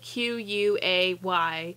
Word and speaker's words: Quay: It's called Q. It's spelled Q-U-A-Y. I really want to call it Quay.